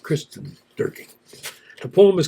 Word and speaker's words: Kirsten Dierking: Kirsten Dierking. Her last name is spelled, her first name is spelled Kirsten. Her Last name is Dierking. So it could be Kirsten Dierking, or no, it's just Kirsten Dierking.